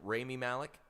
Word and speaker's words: Rami Malek: It was pronounce really the actor's name. Is it Rami Malek? Yeah, Rami Malek.